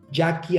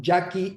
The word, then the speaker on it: Yaqui: Andrés Martínez punto com Acuérdese que el Yaqui se escribe como los indios de Sonora y a q de queso u y latina no Jackie Andrés Martínez punto com